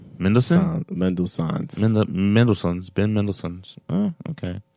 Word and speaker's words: Mendelsohn: Madison's? Mendelsohn.